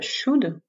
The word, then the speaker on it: should: traduira par de vrais attention à la prononciation on prononce à peine le elle à la forme négative should contractée en show dance